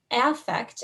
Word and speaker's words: affect: is cognition taking place in your frontal region affect and it is pronounced that way if you're not familiar with